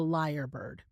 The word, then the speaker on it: lyrebird: to talk about the liar bird I don't know if you've heard of a liar bird before or what it is but a liar bird it's spelled l y re e bird is an Australian bird